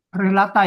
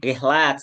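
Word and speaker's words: رحلات: Dibacanya rihlat biar ada bedanya, Pak. Jamak sama mufrad gitu. Oh rat. Iya. I ya. I. Kalau tadi dibaca rhlata ya itu sama mufradnya biar ada perbedaannya. Rilah rilah.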